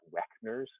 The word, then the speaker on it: Wegener: as the nose and kidneys is if you pronounce Wegener's instead of Wegener's, it's Weckner's with a C in the middle.